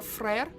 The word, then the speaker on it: frère: That's also kind of funny because, like, Freyer, like, just pronounced like that, or I guess it would be more frère, is French for brother.